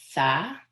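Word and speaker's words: ثاء: And the next letter is Tha. I'm using my tongue here.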